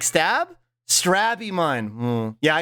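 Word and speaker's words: Strabimon: molding baked bread substance I usually pronounce straw Beamon like stab with an R so hearing slow the way slug says it makes you think some kind of strawberry Digimon like stab strab Iman yeah I say strawberry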